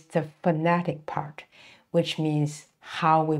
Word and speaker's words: 猴: and so we can say the curve the horn the pointed chin and also the beard and it is pronounced Yang so we can see over the